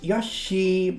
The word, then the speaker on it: Yoshi: them that's all right it's pronounced Yosi mitsu I I actually don't I sometimes even say Yoshi myself anyway just because it